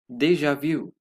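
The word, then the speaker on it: déjà vu: Deja vu. Déja vu is commonly pronounced as deja vu in English.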